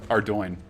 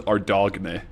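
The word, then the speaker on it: Ardougne: Trillb blood got to pronounce Ardoinne. Ardo. That's how you pronounce it. I only know that because I watch Runescape uh players. I I definitely thought it was Ardog when I read it myself, but it's Ardo is how you actually pronounce it.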